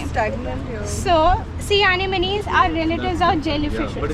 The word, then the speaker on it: anemone: Correct pronunciation is anemone.